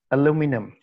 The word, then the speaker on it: aluminum: eating this uh blue the stress is on the second syllable blue aluminum okay turn back and